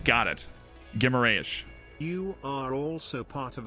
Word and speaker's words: Guimarães: It's pronounced Guimarães. Remove the U. Got it. Guimarães.